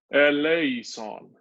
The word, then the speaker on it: eleison: But we pronounce it very, very Latinate. We don't pronounce it like Greek because it's sung in the High Latin Mass.